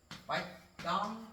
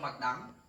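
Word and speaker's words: Bạch Đằng: So in southern Vietnam, there was a river called the Bạch Dong River, or Vietnamese we read it as Sông Bạch Dang.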